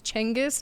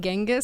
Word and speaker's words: Genghis: i learned some stuff apparently it's changus not genghis so i've been saying it wrong my whole life wait it's chengiskan it's like big changes apparently it's a c c sound rather than a g sound so i've been saying